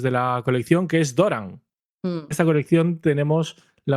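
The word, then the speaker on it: Dorán: Una tilde ahí Sí, pero tontorrona. sigue siendo una palabra llana.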